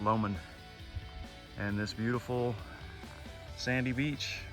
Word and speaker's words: Lomond: at the shore of Lake Lemon. And I guess they pronounce it Lomond.